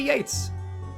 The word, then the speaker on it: Yeats: her about the computer it could be Yeats but I think it's Yeats if it's just pronounced like the whatever British dude the the writer hey Yates WB Yeats pray sir